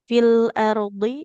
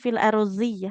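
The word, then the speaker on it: في الأرض: Fil ardi ini juga bukan fil ardzi ya. Enggak seperti zal atau d tapi fil ardi. Jadi ee tepi lidah yang kiri kanan ke gigi geraham.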